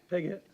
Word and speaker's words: Piggott: Piggott.